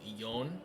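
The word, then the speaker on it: 四: and seven is sh so four can be pronounced yon instead and seven can be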